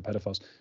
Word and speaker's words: pedophiles: Like, I think we do imagine these sort of what pedophiles are like, I should say, or pedophiles. We pronounce it slightly differently in the UK as like an E sound instead of air.